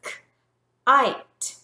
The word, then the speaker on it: kite: But when we add the silent E to the end, it now becomes a long I. So it says k-ite, kite.